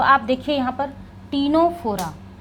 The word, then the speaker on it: Ctenophora: तो आप देखिए यहां पर टीनोफोरा सी टी ई एन ओ पी एच ओ आर ए यही है स्पेलिंग टीनोफोरा टी फॉर कॉमजेलीज कॉमजेलीज ही तो